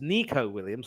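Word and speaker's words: Neco Williams: has also come up I believe it's pronounced Nico Williams or whatever so I'll have to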